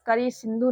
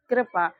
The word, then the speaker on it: कृपा: तो यहां पर इसको हम लोग करी सिंधु नहीं पढ़ेंगे। यहां पर इसका उच्चारण क्या हो रहा है? कृपा। तो यहां पर क के बाद में ऋ का उच्चारण निकल रहा है ना?